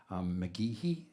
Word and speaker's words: McGehee: Country Feels, written by Neil Thrasher and Vicky McGehee. Did I pronounce that correctly?